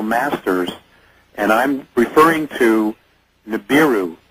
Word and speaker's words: Nibiru: and I'm referring to Nibiru. Nabaru is how Warren would pronounce it, that Sitchin talks about.